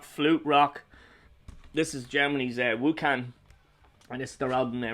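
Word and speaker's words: Wucan: Wukan, not Vukan. Wukan.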